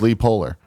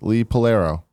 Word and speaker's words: Lee Polaro: On yesterday's show, which I listened to today, Tim pronounced my name as Lee Polar when it is actually Lee Polaro. It sounds like Lethal Arrow, which is his username.